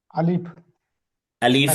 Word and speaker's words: আলিফ: হ্যাঁ, আলিফ একটু শক্তভাবে ধাক্কা দিয়ে উচ্চারণ করতে হবে।